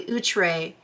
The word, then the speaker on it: Outre: I have to remember to say it correctly utre has outdone themselves once again bravo bravo bravo